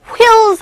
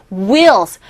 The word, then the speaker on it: wheels: wheels 하지 마세요. wheels.